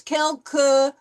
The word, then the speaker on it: quelque: We'll make this quelque very short. À moins quelque. Okay, we won't pronounce it too long, like quelque.